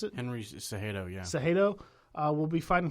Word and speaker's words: Cejudo: It's been announced that Aldo and Zadejo, is that how I pronounce it? Henry Cejudo, yeah.